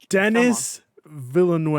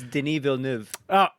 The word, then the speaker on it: Denis Villeneuve: Dennis Villeneuve. All right. Well, nope. it's French Canadian. It's Denis Villeneuve.